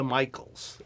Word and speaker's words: Micheels: and I am here with Lisa Michaels and I did pronounce that correctly all right from Brown creative